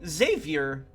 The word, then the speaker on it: Xavier: I'm saying his name, Xavier. You not hear the Z?